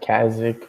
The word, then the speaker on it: Qaezec: known as at Oh, Kazek. Is that how you pronounce it? no one's ever pronounced it right. It's pronounced Kazakh, but it's Qaezec.